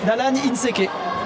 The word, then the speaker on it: Allan Inséqué: Euh en compagnie toujours de Wide, mon collègue et Dalan Inseke. Salut. Je prononce bien ou pas ?